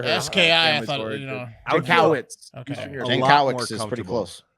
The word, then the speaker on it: Jankowicz: Nina Jankowicz. Oh man, Nina I'll tell you what. Jankowicz. Oh, I thought you said Jankowski, and I was going